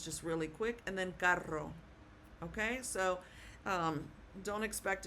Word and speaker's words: carro: Now, if you had the word c a double r o, then you kind of hold that r a little bit if you can. I don't expect anybody to do this well and perfectly, but it would be pronounced carro ro. Ro. That's the sound that it makes.